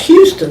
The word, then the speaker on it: Houston: I've always found that interesting how his name is pronounced, because Houston, Texas, we pronounce Houston, but Yeah, but- Mr.